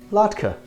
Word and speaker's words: latke: My friends, I present to you the potato latke, pronounced latke.